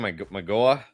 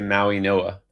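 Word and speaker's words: Mauigoa: Magoa? Maui Noah? What? Maui. I know it's totally spelled differently. But they say Maui Noah.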